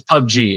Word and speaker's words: PUBG: It's PUB It's PUBG. It's PUBG. PUBG.